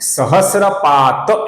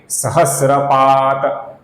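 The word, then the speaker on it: सहस्रपात्: जो सहस्त्रपात है दोस्तों इसका जो अपूर्ण त है इसका पद के अंत में आने के कारण हम लगभग पूर्ण उच्चारण करते हैं। अर्थात सहस्रात ऐसा पूर्ण उच्चारण हम नहीं करेंगे। सहस्रपात त ऐसा उच्चारण हम करते हैं।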